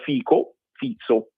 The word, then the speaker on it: Fico: Nessuno tranne Orban e Fizzo, si pronuncia Fizzo, però si scrive Fico, ma si pronuncia Fizzo, che è il primo ministro slovacco, dicono niente.